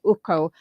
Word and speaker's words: Ucko: In English, a U is U, so I generally say Ucko. But a lot of Okay. people pronounce the U as you did as U, and I'm happy with Ucko. In Afrikaans, you might say the U is U, so it's Ucko. But Ucko in English, but I'm happy.